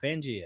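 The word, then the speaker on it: Pangaea: Pangea, yeah.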